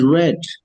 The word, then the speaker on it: read: It's pronounced as read.